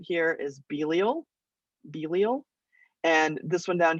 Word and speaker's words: Belial: is the main characters you know how to pronounce all of these except this name right here is belial belial and this one down here is bilzebub